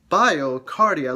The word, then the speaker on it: BioCardia: so i said it wrong it's bar bar biocardia look look at me struggle to say this